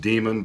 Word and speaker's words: Daemon: And it's spelled Daemon as in D-A-E-M-O-N. So it's pronounced demon, but it has a different connotation.